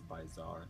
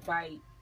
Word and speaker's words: bytzar: page um and it's byar my handle by y TZ a r okay so byar okay so by b y then t z a r okay the T silence remember that all right we'll go